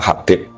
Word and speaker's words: Habib: Itu di harokatnya kitab itu ada yang nulis Hubab. Nah, yang benar, yang benar itu bacanya Habib.